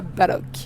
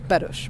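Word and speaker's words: Balloch: Ce matin on est arrivé à Balok, qui ne se prononce... Non, on est arrivé à Baloch, qui ne se prononce pas Balok, mais qui se prononce Baloch, bref.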